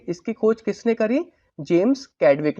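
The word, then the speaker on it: Chadwick: तो मैं इनका यहाँ पे पहले नाम लिख देता हूँ, किसने करी थी, जेम्स कैडविक ने की थी। चैडविक कह लो, चैडविक कह लो, वो अपने हिसाब से आप प्रोनाउंस कर सकते हैं।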